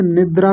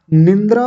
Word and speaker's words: निद्रा: निंद्रा नहीं होता। निंद्रा या बिंदी भी नहीं लगानी। कई बार लोग यहां बिंदी लगा लेते हैं अपनी ओर से। निंद्रा कह देते हैं। निंद्रा नहीं बोलना। मैं फिर से बता रहा हूं। अगर आप गलती करेंगे तो फिर डांट लगेगी आपको। तो गलती हो ही ना। आप ऐसा प्रयास कीजिए। निंद्रा नहीं कहेंगे। निद्रा बोलेंगे।